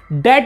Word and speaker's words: debt: डेट बोलते हैं, डेप्ट नहीं। यहां पर बी साइलेंट होता है इंग्लिश में।